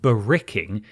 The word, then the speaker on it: barracking: As an Australian who was 2 episodes behind on the show, I thought it best to clarify that barracking, pronounced barricking, is Australian slang for cheering or supporting.